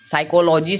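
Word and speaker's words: psychology: पहले पी है भजन ओके का कोई भी उच्चारण नहीं हुआ है जैसे की साइकोलो जीवे साइकोलॉजी मतलब होता है मनोविज्ञान और देखिए यहां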